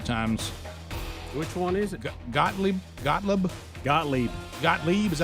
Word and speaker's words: Gottlieb: Gottlieb, is that how you say it? Yep. Gottlieb.